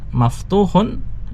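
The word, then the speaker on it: مفتوحٌ: di situ kaidah membacanya Alba bu ya pakai alif lam sehingga dibaca tanpa tanwin sedangkan maftuhun itu tanpa alif lam sehingga dibaca dengan tanwin ada tambahan tanwinnya Al babu Maaf turun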